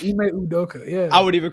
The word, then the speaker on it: Ime Udoka: Ime Udoka. Udoka, right? Damn. Yeah, I said it right. Ime Udoka.